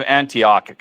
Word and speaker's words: Antioch: And Okay, Ryan, I've heard of Antioch. I'm pronouncing it right because I know how to say it.